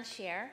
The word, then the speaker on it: Shaer: And Shaer as your share on the stock.